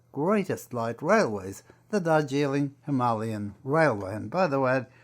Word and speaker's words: Himalayan: light railways, the Darjeeling Himalayan Railway. And by the way, that is the pronunciation. We say Himalayan, but the locals call it Himalayan.